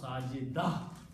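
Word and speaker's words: ساجدة: So full word is sajidatun. When you stop, you don't pronounce ta, you pronounce sajida, ha.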